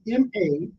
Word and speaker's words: malaise: The word is spelled M-A-L-A-I-S-E.